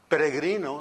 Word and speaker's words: Peregrino: say I love it peregrino the last name and that's the way it's supposed to be pronounced if you can roll your r's peregrino means Pilgrim a